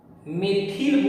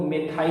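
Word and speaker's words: methyl: Science में उच्चारण थोड़ा सा अलग अलग होता है। जैसे अगर इसको आप पढ़िएगा साइंस में तो बहुत लोग मेथिल बोलता है, बहुत लोग मेथाइल बोलता है।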